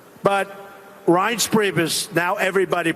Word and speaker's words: Reince: And I said before, nobody knew how to pronounce his name. It's a crazy name. They call him Rance. Steve Wynn just called him. He's still not pronouncing it right, Steve. But Reince Priebus, now everybody pronounces his name right.